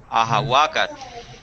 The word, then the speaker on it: ahawakat: ahawagat Ah, ahawakat. ahawagat Wan puhpula. guampufula. Parece que yo necesito practicar cómo decir el plural de aguacates. Ahawakat. ahawagat O sea, lleva el acento en la penúltima sílaba siempre, ¿verdad?